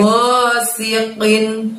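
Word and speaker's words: غاسق: Go dari tenggorokan gosi, si karena sin tanpa titik, sin kecil, kita tarik bibir kita, gosi. Lalu ada huruf qin, qinnya pakai kof, pakai kasrotain. Qinnya kita bacanya atau keluarkan hurufnya dari pangkal lidah kita, gosiqin, sambil menyentuh langit-langit lidahnya, gosiqin. In di situ harus dibaca jelas n-nya teman-teman, karena di depannya ada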